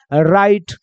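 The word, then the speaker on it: right: लाइट वैसे ही देखो आर आई जीएसटी में आर को क्या पढ़ेंगे र आई के बाद जी एच टी है तो आई बन जाएगा आई का तो राई हो जाएगा जी एच साइलेंट हो जाएगा टी का हो जाएगा ट तो क्या बन जाएगा राइट जस्ट लाइक नाइट का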